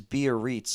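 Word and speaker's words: Biarritz: the correct way and I think it is beer REITs according to Google pronunciation it was named after a whole lot bierreets Golf Club in France which was really designed by Willie Park um yeah so I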